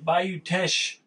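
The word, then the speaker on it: Bayou Teche: Yeah, Bayou Tesh Brewery. That's how you say it.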